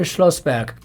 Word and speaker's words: Schlossberg: Schlossberg, sorry, I always take German names and pronounce them as if I live in Germany, which I do.